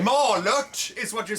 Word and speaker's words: Malört: I will drink the Malort in your stead. All right. Malört is what you're saying.